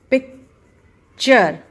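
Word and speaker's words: picture: है तो उसका प्रोनंसिएशन टूरे नहीं होता उसका प्रोनंसिएशन होता है चर तो टी यू आर ई V always pronounce S चर फोर्थ प्रोनंसिएशन जो हम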